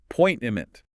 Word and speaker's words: appointment: Many people put the stress on the wrong syllable, which can make it a bit hard to catch. The emphasis is on the second syllable. So you should say uh appointment.